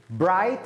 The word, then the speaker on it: bright: bright الجي اتش لا ينطق.